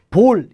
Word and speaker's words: bol: 드리울 바로미터 요거이 그래서 이거는 우리말로 굳이 푸셔 면 볼 이라고 발음이 되는 거야 뜻은 사발 그릇 뭐